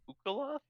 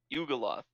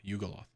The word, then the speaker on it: Yugoloth: I tried to spell it out, but you said like Ukaloth? Yugoloth. Okay, Ugeo. Y-U-G-O. Yeah, Yugoloth. Like Yugoslavia, bro. Like Yu-Gi-Oh, yeah. Like a Yu-Gi-Oh.